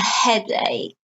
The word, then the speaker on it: headache: Now notice the word headache, the k here, not headache. No, it looks like headache, but no, it's an exception. The CH is spelled k, is pronounced, the CH is pronounced k, okay?